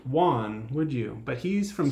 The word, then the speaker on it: Joan: that to be pronounced Juan, would you? But he's from Spain. Looks like yeah. John. Looks almost like you'd say Joan or Joanne. But in Spanish, that would be pronounced Juan.